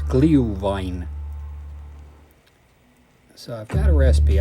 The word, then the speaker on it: Glühwein: A bit of glee with rhyming the sound glue, so it's Glühwein.